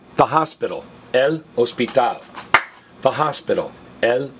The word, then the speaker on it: hospital: It's spelled exactly the same, but notice the H is silent. It's spelled H-O-S-P-I-T-A-L, but it's pronounced hospital. Now, again, if you're wondering why we're stressing the last vowel on hospital, and if you're wondering